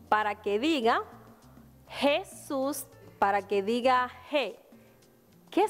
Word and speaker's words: Jesús: el nombre de jesús fíjate que en la sílaba shoes hay una mayor fuerza que decimos cuando decimos el nombre de jesus eso es porque tiene una tilde en la o fíjate jesús algunos nombres llevan tilde y eso es porque se hace mayor fuerza en esa sílaba ahora quiero que me